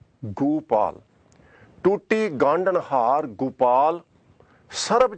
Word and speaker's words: Gopal: But here, Guru Maharaj has intentionally put Onkar underneath Gagga. So pronunciation is Gopal.